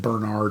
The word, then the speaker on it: Barnard: It's pron they pronounced it Bernard apparently.